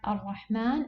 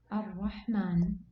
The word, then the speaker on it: ar-Rahman: Here we have to pronounce it as if, exactly, as if the word is written like this. Ar-Rahman.